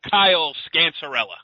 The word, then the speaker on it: Kyle Scancerella: He is DePaul senior Kyle Scancerella. Did I pronounce it right, Kyle?